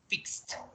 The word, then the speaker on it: fixed: When finishing P, in K, in SH, in CH, in GH, in TH, in SS, in C, or in X, you have to pronounce it like a T, okay?